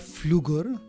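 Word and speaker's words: Pflüger: These egg nests are attached to egg tube of Flügger. Here P is silent.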